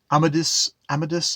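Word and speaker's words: Amadís: I'm gonna have to look up actually how to say Amadis. I'm saying Amadis, but maybe you don't say that. I mean, it's Amadi, and you don't pronounce that S.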